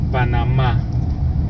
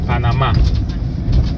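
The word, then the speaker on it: Panamá: the right pronunciation is Panama with the accent and the last a Panama that is the right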